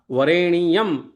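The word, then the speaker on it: वरेण्यम्: वरेण्यम के स्थान पे वरेणियम ऐसा पढ़ना चाहिए। त ता सा भी त वार रेणी यम इस तरह उच्चारण करने पर पहले पाद में आठ अक्षर हो जाते हो जाएंगे।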